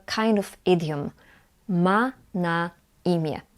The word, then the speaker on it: imię: But when the letter N is at the end of the word, we pronounce it as E. Imię. Imię.